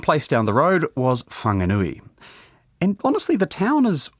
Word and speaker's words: Whanganui: The name's since been corrected to Whanganui, and that's the pronunciation we're using in this podcast, although Pākehā at the time would have spelled it without the H.